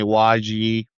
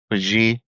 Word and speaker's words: Wajeeh: So, my name is pronounced Wajih in Arabic. And American, I don't mind people calling me Wajih or Waj or uh Wajih.